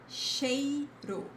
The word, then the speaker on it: cheiro: It never sounds like ch, like ch in chocolate. It sounds like sh, as in she or shy, okay? And remember, regardless of the word, if you see the ch, is exactly like the sh in English.